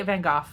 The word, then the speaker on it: Van Gogh: Americans say Van Gogh, anyway.